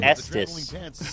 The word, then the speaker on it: Estes: I don't pronounce it that way. It's Estes.